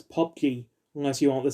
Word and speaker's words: PUBG: to think but p-u-b-g you do not pronounce his letters you pronounce it as pop g unless you want to